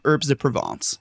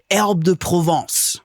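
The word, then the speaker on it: herbes de Provence: black pepper and some herbs de Provence. Uh may we but Leo, it's pronounced herb de Provence.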